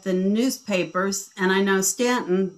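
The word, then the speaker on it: Staunton: And I know Stanton, that's pronounced Stanton in Virginia because it is.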